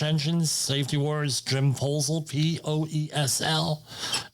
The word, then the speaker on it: Poesl: Safety Wars, Jim Poesl, Poesl. Not the other way, please. Easy to remember, all right? Poesl, but how do you say it? My favorite word is proposal.